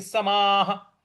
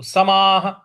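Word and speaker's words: समाः: शाश्वती शाश्वती समाश्वती समाश्वती समाह समा के आगे जो विसर्ग है उसके आगे कुछ नहीं है इसलिए यहां पर हम उस विसर्ग को हम ह के उच्चारण में लाएंगे तो समाह तो पूरा कैसे बन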